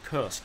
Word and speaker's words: Kursk: Now, I personally like Kursk, okay, and I think, or Kursk if you want to insist on the English pronunciation.